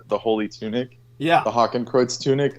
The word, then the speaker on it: Hakenkreuz: Hakenkreuz. It's called Hakenkreuz.